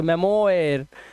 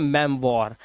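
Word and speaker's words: memoir: मेमोयर नहीं इसे पढ़ते हैं मेम वॉर।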